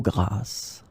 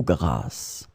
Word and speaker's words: grasse: In this lesson, we will discover together two words that are written differently but pronounced the same way.